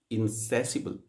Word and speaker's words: insatiable: Say with me, insatiable. This is beautiful adjective. आपने देखा कि जिसमें जो सेकंड सिलेबल है that is stressed and insatiable. Here, how low in the pitch those last two syllables are.